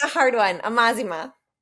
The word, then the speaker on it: Amazima: Amazima.